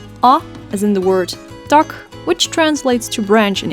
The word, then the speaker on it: tak: i and u a is in the word tuck which translates to branch in English tuck ah as in the word man which means